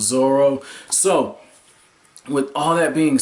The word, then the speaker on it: Zoro: kids pronunciations or what, kind of like how it was Zolo and the Viz manga had Zolo, but it turned out it was Zoro.